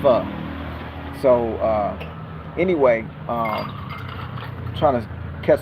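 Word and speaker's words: phở: And for all y'all Americans, they call it pho. It's pronounced pho. That's the soup with the noodles. Put chicken, they put fish in there, whatever. It's called pho. Pho. It's not pho. It's not like pho, like it looks.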